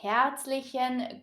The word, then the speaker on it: herzlich: This phrase might be a little bit difficult to pronounce because of the CH sound in herzlich. For this sound, you want to press air through a tiny gap between your teeth.